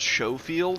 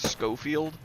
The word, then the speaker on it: Schofield: the most famous uh a lot of people think it's called show field because it has an SCH uh but it is not for some reason it's pronounced Schofield uh this is chambered